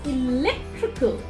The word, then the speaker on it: electrical: four syllables there and whenever ical ending is there we always stress the third syllable from the right hand side so it's electrical electrical electrical mechanical mechanical musical musical so i just wanted